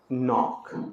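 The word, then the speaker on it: knock: यहां एल ई डी जी ई में D silent knowledge knowledge के एन ओ सी के क्या पढ़ेंगे इसको नॉक दरवाजा नॉक करते हैं के एन ओ डब्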